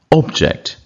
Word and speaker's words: object: Contract அப்படிங்கிறது noun, கான்ட்ராக்ட்ங்கிறது verb. முதல் சிலபில் இப்போ உச்சரிக்கிறது வந்து என்றைக்கும் நவுனு, ரெண்டாவது சிலபில் உச்சரிக்கிறது verb. Conduct, conduct. Object, object.